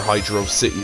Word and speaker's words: Hydro City: be honest but yeah hydrocity is what some people call it because it has no space in the middle but sega's official pronunciation from the zone is hydro city zone if this is stated